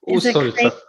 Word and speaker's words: Усольцев: I probably butchered your name, huh? am I close? Усольцев. Thank you.